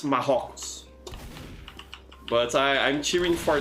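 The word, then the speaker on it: Marrocos: it in English Morocco in Portuguese it's mahogs but I I'm cheering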